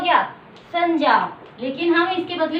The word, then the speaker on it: संज्ञा: इसका सही उच्चारण होता है संज्ञा, क्योंकि जय और च वर्ग के अंतिम वर्ण से मिलकर बना है। इसका उच्चारण क्या हो गया, संज्ञा।